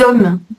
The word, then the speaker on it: hommes: Les hommes, c'est un H muet, donc on fait la liaison.